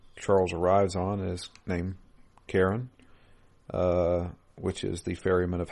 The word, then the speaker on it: Charon: So Charon. Yeah. Yeah. Karen. Isn't that the ferryman? Yeah, Karen. Karen. Apparently, it's pronounced Karen. I know it's weird.